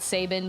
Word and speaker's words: Sabin: I will pronounce it Sabin because, like I said, I have a friend with that same last name and she pronounced it Sabin.